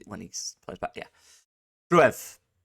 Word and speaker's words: Gruev: Gruev, Ali Gruev, Ilya, Groif, I believe. But that's the right pronunciation.